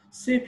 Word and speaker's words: ces: or lose this clock last one is ces plus plural cs will be pronounced like c before consonant starting plural and it will be pronounced like sage before bubble started or h mute starting tourist let's take some